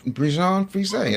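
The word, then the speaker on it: Bichon Frise: to get yelled at by my wife for mispronouncing this. I believe it's called a Bjon Fay or Freeshaped dog. Bjan Bjan Fay.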